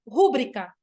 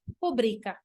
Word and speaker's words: rubrica: Na acentuação, isso muitas pessoas cometem, gente, muitas pessoas, independente da educação formal, pessoas formadas, falam rúbrica, quando o certo seria rubrica.